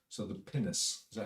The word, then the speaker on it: pinnace: So the pinnace, is that how you pronounce it?